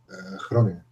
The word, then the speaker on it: Groningen: Groningen.